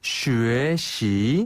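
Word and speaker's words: 学习: 한 번 더 쉬시 슈에 시 그렇죠 아 이때 발음 하실 때 슈에 할 때는요 입술을 입술을 모아서 위 발음으로 쉬에 위 발음으로 슈 그다음에 시 할 때는 입술을 양쪽으로 쭉 벌려서 시 아 시 그렇죠 슈에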